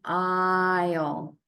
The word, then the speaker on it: aisle: And they're words about something you'll see in the supermarket, an aisle.